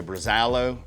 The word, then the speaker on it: Brazalo: So, this is the Brazalo.